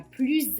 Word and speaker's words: plus: Léa est la plus âgée des enfants. Le mot plus a donc trois prononciations différentes. Soit on prononce le S, soit on ne prononce pas le S, soit on prononce Z.